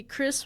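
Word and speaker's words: Khris: The H is silent.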